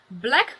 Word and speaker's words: Blaqe: Let's go to the next thing, which is from Blaqe Cosmetics, but it is spelled with a Q.